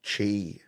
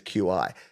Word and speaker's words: Qi: before you've only got Chi which is spelled Qi by the way if you're thinking why does he keep saying Chi it says Qi it's Qi but it's pronounced Chi yeah go figure uh